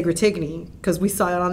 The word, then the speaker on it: Gratigny: turns out it's pronounced gratmi right and it's a french last name and that is named